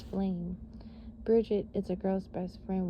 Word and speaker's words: Brigid: All right, BRIGID, pronunciation, bridge, and then Jid, Jeed, is the Celtic triple goddess known as keeper of the sacred fire.